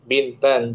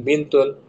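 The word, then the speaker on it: بنتًا: Kam mm kam wa kam oh kam binta bintan nah bintan anak perempuan bintan jangan bintun dibaca bintan mansub namam berapa paman paman yang kamu punya kam amman bagus kam amman ya kan Bis alhamdulillah selepaskan tamyiz.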